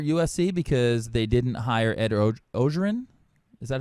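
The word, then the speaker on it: Ed Orgeron: This feels like a do-over for USC because they didn't hire Ed Ogeron. Is that how you pronounce his name? Ed Ogeron.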